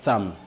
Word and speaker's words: thumb: Les doigts ici, en anglais, on prononce bien, on appelle ça thumb.